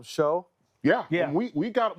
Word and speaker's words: Shough: We didn't know how to pronounce his name. Yeah. You call him show.